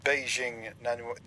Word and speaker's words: Beijing: We are flying out of China today through Beijing Airport. That is the correct local pronunciation, by the way.